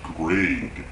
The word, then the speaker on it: Grey: It's Greg, and it's actually spelled G-R-E-Y, Gray's name, but just with the G.